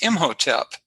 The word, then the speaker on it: Imhotep: spell it in hieroglyphics but how it's been pronounced uh traditionally is imhotep and he is more famous than the pharaoh